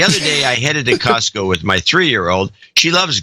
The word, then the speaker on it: Costco: I realized I've been dropping the T from Costco for years. I quickly corrected her and now pronounce it Costco.